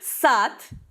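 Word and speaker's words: сад: So, sat, a garden, is written with D, but is pronounced with T.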